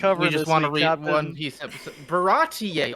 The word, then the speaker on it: Baratie: Baratie Arc. Yeah. Is that it? Is that how you say it? You got it. You Yes. did it. You pronounced it right.